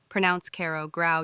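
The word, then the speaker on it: grau: leela gray gray ko grow yanni rhymes with cow.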